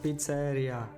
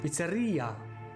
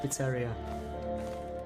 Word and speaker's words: pizzeria: the song shout outs I'm not pizza area oh I see I see the emphasis on eye right Pizzeria Pizzeria but you know I'm speaking English not Italian so it's like Pizzeria I'm sure in Italian it's Pizzeria or something like that anything that takes the